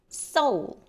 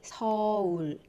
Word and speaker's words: 서울: So sometimes I hear a lot of people say soul. That's not actually a correct pronunciation in Korean. We say 서울.